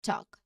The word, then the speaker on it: talk: So you'll notice that the L is silent in both of these words. So it's pronounced as walk and talk. You go directly from the vowel sound to the K sound by passing the L completely.